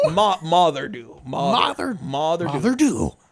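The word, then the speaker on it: Moddey Dhoo: like like like Father think of it like father but with an F or with an M rather this sounds kind of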